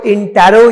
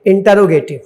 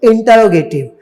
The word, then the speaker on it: interrogative: ये देखिए स्पेलिंग है INTERROGATIVE, लेकिन इसको इंटेरो या इंट्रो नहीं पढ़ते, इंटरोगेटिव। क्या पढ़ते हैं? इंटरोगेटिव। नहीं इंटेरो पढ़िएगा और नहीं इंट्रो पढ़िएगा, स्पेलिंग पे ध्यान दीजिएगा।